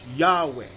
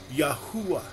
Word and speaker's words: Yahweh: This ministry chooses to pronounce the Creator's name as Yahweh. Another ministry may choose to pronounce the Creator name as Yahuwah.